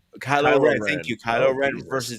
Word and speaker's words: Kylo Ren: Man, I can't pronounce his fucking name. Kylo Ren. Kylo Ren.